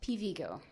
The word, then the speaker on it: Pivigo: teacher was talking about this acronym PVGO, which stands for Present Value of Growth Opportunities, which is related to share prices. And for some reason, she pronounced it Pivigo whenever she talked about it.